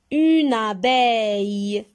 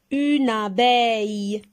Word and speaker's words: abeille: Et comme toujours, j'ai dit, quand on a double consonne, on sépare les deux consonnes. Et on a le son ei qui s'écrit avec E-I-L-L-E, car c'est un nom féminin.